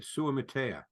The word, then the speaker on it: Suamataia: I'll let you pronounce his last name, from BYU. Oh, that would be Kingsley Suamataia.